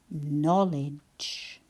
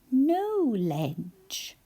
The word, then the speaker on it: knowledge: C at the beginning that we don't hear when we say it. N O no and then ledge. No ledge.